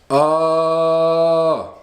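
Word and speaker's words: ཨ: It's pronounced ah, and this is part of, we could say, some of the techniques of doing that and visualizing this symbol.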